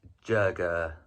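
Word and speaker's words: 这个: The proper way to say it is "jerga," something like that. I've never actually heard anybody say that.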